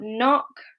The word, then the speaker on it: knock: they have an N, the K is always silent. We pronounce it with an N sound, the N at the beginning.